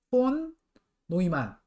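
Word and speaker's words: von Neumann: 82년 전에, 어, 여기, 이건 이제 존 본 뉴만이라고 읽으면 좀 이상해요. 그쵸? 왜냐면 이 사람은 독일 사람이니까. 이거는 요한 폰 노이만 이렇게 읽는 게 맞을 것 같고요.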